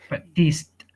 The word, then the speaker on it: practiced: for you but these practiced practices although this d sounds like tea that's fine in practice